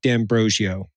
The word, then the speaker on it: D'Ambrosio: We've got Keith Parker and Mark D'Ambrosio. Did I say it right? Oh, man. I said it right.